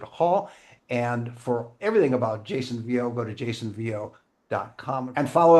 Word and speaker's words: Jason Vieaux: My guest has been Grammy winning classical guitarist Jason Vo. That's how it's pronounced.